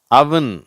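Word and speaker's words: oven: monk Musk நன் once அவன் சரியா இது அவன்னு சொல்ல தேவையில்லை அவன் இதை தப்பா ஓவன்றாங்க இந்த அடுப்பை ஓவன்றாங்க அது அவன் அப்படின்னு சொல்லணும் ரஷ் சம் சக் டஸ்க்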